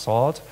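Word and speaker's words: NaCl: daniel j bernstein again it's actually pronounced salt and it's an incredibly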